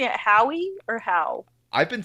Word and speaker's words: Howe: Curtis, are we pronouncing it Howie or Howe?